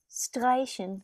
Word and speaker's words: streichen: Streichen, cross out. Streichen, to cross out. Remember, whenever you have the S before a T, you have to pronounce it like a sh.